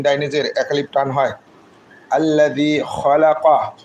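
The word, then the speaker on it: خَلَقَ: আল্লাযী খলাকা, খ জবর খ, লামজুল্লাহ খলা, কফ জবর ক, খলাকা। খটা আমরা হলকের শেষ ভাগ মানে মুখের পাশের গলার অংশ থেকে উচ্চারণ করবো, অপ এই জায়গায় দিয়ে উচ্চারণ হয়।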